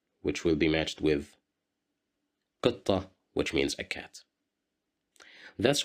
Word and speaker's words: قطة: قطة, قطة, قطة, which means a cat, as you see. Here we have the letter qaf controlled by the kasra sound. That's why we pronounce it as qi.